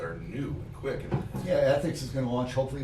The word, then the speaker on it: ETHIX: But that's what I'm excited about with ethics, to kind of transition this for a second.